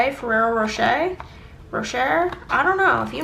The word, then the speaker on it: Ferrero Rocher: I think it's properly pronounced Ferrero Rocher, Ferrero Rocher.